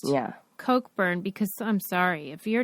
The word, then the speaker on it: Cockburn: gal in there whose name was pronounced Coke burn but it's spelled cockburn and so it really didn't even matter that it was pronounced yeah Coke burn because I'm sorry if